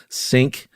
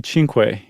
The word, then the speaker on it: Cinque: Mtume and it might be Cinque. Oh, really? Yeah, cuz they were super into Che Guevara and the Cuban Revolution. So, anything that looks even remotely Spanish is probably pronounced like that.